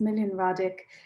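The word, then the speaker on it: Smiljan Radić: i never say his name correctly but it's million radic um serpentine pavilion in london um yeah we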